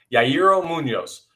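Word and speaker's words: Yairo Muñoz: Let's say his name right. Yairo Munoz. I keep wanting to say it like Frankie Muniz from Malcolm in the Middle.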